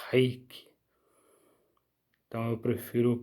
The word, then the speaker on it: reiki: eu gosto de pronunciar reiki, porque na língua japonesa, reiki não seria com R, seria com H, né? É um som de H, reiki.